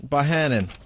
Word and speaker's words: Bohannon: Bohannon. Sounds like banana, I guess.